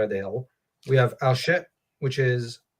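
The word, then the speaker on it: Archet: We have Alshet, which is, I know I'm not pronouncing it right. I know English speakers have a different way of pronouncing it. Thank you, Matt. Yep. It's just, I pronounce it because I'm French, so I go with the French. Yeah. That's fine. I believe I looked it up actually, and I think the CH sound is supposed to be like the CH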